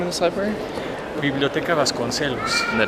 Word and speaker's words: Biblioteca Vasconcelos: Biblioteca Vasconcelos. The Biblioteca Vasconcelos.